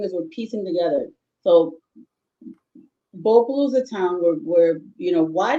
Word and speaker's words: Bopolu: and Bopuru is actually Bopolu because we don't actually pronounce the R Yeah.